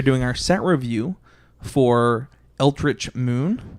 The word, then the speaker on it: Eldritch: our set review for ultrich moon is how you say that altrich that is correct yeah we're doing our